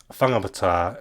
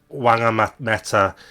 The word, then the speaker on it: Whangamata: WH words in are pronounced with a f sound in Maori. So the word he's got there he's got whangakoko, whangamarino, whangamata, and whangamoa. And if you're a white Pākehā, and you're like a lazy racist like this chap, he'll go, that's wangakoko, wangamarino, wangamata, and wangamoa. That's how they'll pronounce it, like they see it in English.